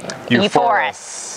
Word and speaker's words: uForis: uForis. It's a cool name. VR. VR. Sounds like euphoria.